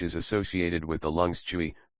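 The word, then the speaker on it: 吹: associated with the lungs chewy pronounced like qui with a forceful exhale which is associated with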